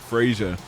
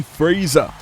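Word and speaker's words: Frazer: Now, recently I learned I'm pronouncing his name wrong. I'm used to saying Frazier. It's actually Fraser. For some reason, they missed the I.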